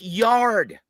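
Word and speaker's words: Yarde: And fans, look, I know you guys are some uncultured swine, but it's pronounced yard, not yardy.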